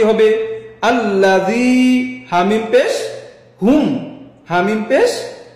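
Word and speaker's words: الذين: জবর আল লাম জবর লা আল্লা নরম ইয়া উচ্চারণ কি হবে আল্লাজি হামিম পেশ হুম হামিম পেশ হুম এখন একসাথে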